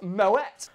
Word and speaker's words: Moët: Actually, I think you'll find it pronounced Moet.